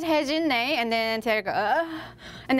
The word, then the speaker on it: Hye-Jin Nae: I always say to my students that my name is Hye-Jin Nay, and then they go, and then say horse hay and drink gin.